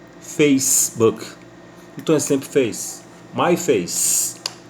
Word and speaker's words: Facebook: Face é Face fez como se fosse o verbo fazer no passado na terceira pessoa ele fez então a palavra fez então fica Facebook Facebook então sempre fez mais